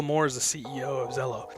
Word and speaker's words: Zello: so let's talk about Zillow it's pronounced hello with a Z is ello and Bill Moore is a CEO of Zelo like I saluted in